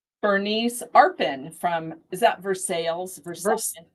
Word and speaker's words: Versailles: Bernice Arpin from is that Versailles? I say Versailles because it's French, but here in America they pronounce that different so I think it's Versailles Connecticut.